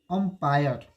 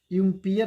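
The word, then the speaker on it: umpire: अब एक और वर्ड बोलते हैं जो अब उसमें वोवेल साउंड आएगा, अंपायर, UMPIR, अंपायर। इसको पढ़ेंगे अंपायर। अब देखिए अंपायर जो है, एम्पायर नहीं होता है, अंपायर जो होता है।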